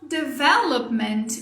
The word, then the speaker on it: development: Então, development, o maior problema que eu vejo das pessoas que estão aprendendo inglês com essa palavra é a sílaba tônica. Então, qual que é a sílaba tônica dela? Vé. The vé. Vou pintar ela aqui para vocês verem. The vé. Muitas vezes o que eu vejo é colocar força aqui, ó. Develop. Isso está errado.